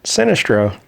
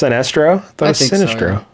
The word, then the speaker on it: Sinestro: the sorcerer sinistro hey that's an actual villain sinistro sinestro oh it's pronounced sinestro a ragdoll we encountered ragdoll before in the